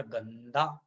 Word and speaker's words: गंदा: पांचवा वर्ण है ना तो आधा ना का उच्चारण हो जाएगा गंदा तो ग आधा ना